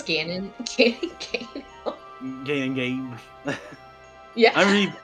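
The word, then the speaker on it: Ganon: because said Gannon maze he said gay like gaining mate and I'm like dude it's Gannon getting games yeah I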